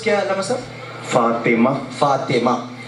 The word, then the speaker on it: فاطمہ: فاطمہ پورا کہنا چاہیے، اور فاطمہ بھی نہیں ہوتا، فاطمہ تو ایک نیچے زیر ہے، فاطمہ ہے.